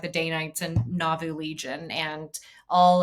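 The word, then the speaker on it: Danites: maybe goes into government as well uh the day nights were an organization that were created right around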